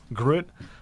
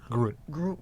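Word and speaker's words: gruit: there's a style uh grit i believe is how you pronounce it that doesn't have any hops in it um but that's really about it what's it called grit g-r-u-i-t group and what does that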